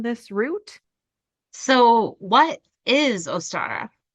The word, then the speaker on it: Ostara: So, anywho, the internet told me how to say it and it's Ostara, but it's spelled like O-W, which is ow to me. But anyways, Ostara, O-staa-ruh. That's how you say it.